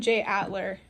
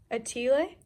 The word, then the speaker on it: atelier: I've been saying J. Atler. Oh yeah, it's French. J. Atelier?